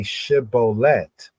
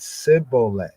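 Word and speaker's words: shibboleth: have you so they said to him say shibolet and he said CET for he could not frame it right then they took well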